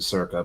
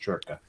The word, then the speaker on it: Circa: Yeah, we pronounce it Circa, but as you know, I'm trying to learn Italian. It's pronounced Churka.